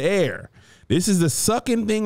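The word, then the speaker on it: Aer: But you want to go the A-E-R. It's pronounced the air.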